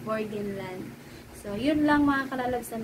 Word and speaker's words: Burgenland: So, ang bigkas ko dati sa Burgenland is Burgenland. So, mali pala yun, is Burgenland.